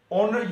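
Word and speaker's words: honour: यहाँ लफ्ज़ ऑनर यूज हुआ है जिसमें एज साइलेंट है। ये लिखा जाएगा लेकिन पढ़ा नहीं जाएगा।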